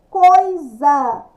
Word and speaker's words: coisa: nem se sacode né existe coisa com Lúcia com z Mas a escrita com s depois nós temos quem